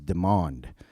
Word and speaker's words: Demond: and his name was Demond. Black kid around my age. But when I introduced myself, hi, he said, hi, my name is Demond, spelled like demon, sounds like almond.